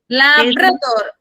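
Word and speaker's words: Labrador: ഒ ആർ ലാബ്രദോർ പ്രവാഹം മിസ്സേ ലാപ്രോ ഉച്ചാരണം വരുക ലാബ്രദോർ ലാബ്രദോർ ലാബ്രദോർ അതാണ് ട്ടോ ലാബ്രദോർ എന്നാണ് എൽ എ ബി ആർ എ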